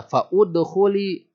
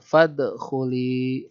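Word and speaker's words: فادخلي: Makanya tidak dibaca fa'udkhuli, enggak dibaca gitu. Tapi dibacanya fadkhuli.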